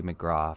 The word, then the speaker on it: McGrath: her name is spelled Katie McGrath but it's pronounced Katie McGrath for whatever reason Irish dialect for you anyway